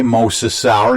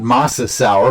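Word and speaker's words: mosasaur: here that term uh i think i pronounced it okay moses sour not masa sour but uh give me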